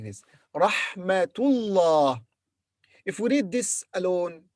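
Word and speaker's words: رحمة الله: When تاء مربوطة is followed by another word, we pronounce ta.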